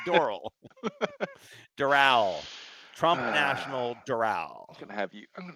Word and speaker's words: Doral: in Doral Florida okay it's Dural oh she okay well you know me D come on that's my that's my MO is pronouncing stuff completely wrong it's D not dorl dorl dorsal fin oh I was thinking dorl as in like um the like oral it's not Doral like an oral you have an oral